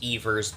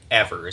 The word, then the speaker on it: Evers: Tony eavers and his name is in fact pronounced eavers despite the fact that I pronounce it ever several times in this video guys the Wisconsin